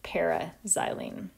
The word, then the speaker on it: para-xylene: We write just the letter P, but we pronounce it para-xylene.